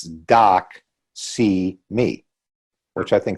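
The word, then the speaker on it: doxy.me: for a corporate platform doc see me I don't if you're familiar with that one a do X Y dot M E and if you think about it phonetically it's doc see me which I think it's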